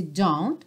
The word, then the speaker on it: don't: Então, mesma coisa aqui nesse don't, você não ouve o T, não é don't have to tell you, don't have to tell you.